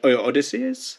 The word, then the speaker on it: Odysseus: is sort of obviously um you this odyssey's odysseus that's how you how to pronounce the guy or odysseus which means you know why actually kill everyone